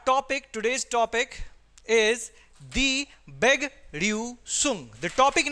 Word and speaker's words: Begrüßung: Begrüßung. Speak with me. Begrüßung. This beta sign give the sound of double S.